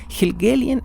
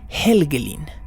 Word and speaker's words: Helgelien: Helgelien es como pronuncian este apellido la mayoría de las personas que he escuchado hablar del caso. Tanto en inglés como en español se pronuncia como Helgelien o Helgelien. Sin embargo, encontré otras dos posibles pronunciaciones para este apellido. Helgelien y la pronunciación, digamos, más nórdica, más germánica, Helgelin.